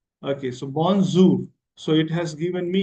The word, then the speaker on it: bonjour: Okay how you can proniation is bonjour. Okay. So this is how pronunciation is bonzour. Okay. So bonzour.